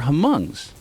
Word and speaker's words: Hmong: Well, they were Hmongs. Okay. Hmong is like Yeah. this. If you saw Gran Torino, that movie with Clint Eastwood. I think the H is silent.